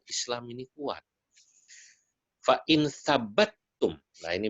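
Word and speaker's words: ثبتم: Fa in thabattum, nah ini bacanya thabattum ya.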